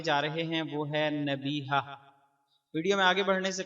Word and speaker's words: نبیہہ: تلفظ اور اعراب نبیہہ۔ نبیہہ کا صحیح تلفظ اس طرح ہے، یہ فعیلہ کے وزن پر ہے، نون کے زبر اور با کے زیر اور چھوٹی ہا کے ساتھ، یعنی نون زبر نا، با یا زیر بی، ہا زبر ہا، نبیہہ۔